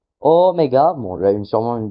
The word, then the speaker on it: oméga: Puis la lettre oméga. Oméga. Bon là une sûrement une des lettres les plus connues en grec ancien. Euh c'est un O comme le Omicron, sauf qu'il est long.